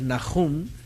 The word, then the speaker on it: Nahum: Y el nombre de Nahum, su pronunciación hebraica es Nahum. Realmente la letra que está aquí es Het, no es He, es Het, y es Nahum, ¿okay?